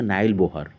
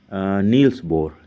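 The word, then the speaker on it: Niels Bohr: या आपके जो टीचर होंगे कुछ प्रोनाउंस करेंगे नाइल बोहर या नाइल बोर, या कोई बोलेगा नील्स बोर, कुछ लोग बोलेंगे नील्स बोहर, कुछ लोग बोलेंगे नाइल बोहर, ठीक है। तो डिफरेंट टीचर डिफरेंट प्रोनाउंसिएशन करेंगे, तो आपको उससे कंफ्यूज नहीं होना है, ये सब एक ही चीज़ है।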